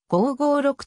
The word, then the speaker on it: 5-56: た CM を展開音声を用いる広告媒体では 556 と発音されている公式サイトの動画 3 章 5 から 56 無効性製品情報